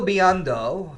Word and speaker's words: Biando: huntsman by the way michael biando that's how you pronounce his name maybe i'll be in